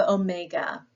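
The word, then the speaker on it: ὠμέγα: And then lastly, we have omega, and this is going to be your O, as in obey. So almost a long O sound.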